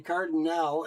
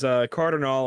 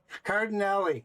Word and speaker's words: Cardinale: I've been calling you Cardinal, and it's not Cardinal, is it? No worries. Cardinale is what I go with. There's like 5 different correct pronunciations. Cardinale.